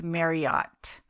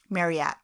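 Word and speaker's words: Marryat: listening to like youtube's i thought it was marriott like but it's spelled m-a-r-r-y-a-t marriott oh okay marriott maybe it's just their accent could be maybe it's our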